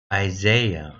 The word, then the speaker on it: Isaiah: 이사야로 발음. Isaiah.